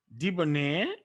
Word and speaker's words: debonair: the stress is there debonair so the stress is on the end syllable the nearer okay so